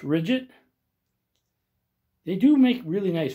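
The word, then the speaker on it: Ridgid: So I will say Rigby, or Ridget, I think it is pronounced Ridget.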